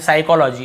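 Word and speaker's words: psychology: पता ही होगा P starting में पी लिखा हुआ है लेकिन हम पी को पढ़ते ही नहीं है साइकोलॉजी इसे हम क्या पढ़ते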